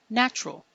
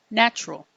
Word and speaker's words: natural: Today's word is the adjective natural. Natural. Natural. Or some people say natural. Natural. Natural. You can choose either one.